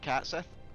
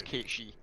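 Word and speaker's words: Cait Sith: most people pronounce it cat Seth yeah uh the actual pronunciation for those who don't know as it goes back to Scots and our Gaelic Legends and it's kichi I must first find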